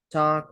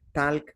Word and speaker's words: talk: Talk, walk. No se pronuncia la L. Talk, walk, no. Sin la L.